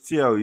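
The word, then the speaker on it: Thiaw: The coach, Tiao, is he related Tio. to It's not the Chow. guy? Chow. Is he- It's Chow. It's Chow. Whatever. Is he related to the guy in Germany? Yeah, it's Yeah.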